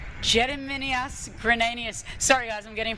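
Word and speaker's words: Gediminas Grinius: Uh once again Martin help me with the pronunciation here. Uh Jiminas Grenius from Lithuania. Jediminius Grenius.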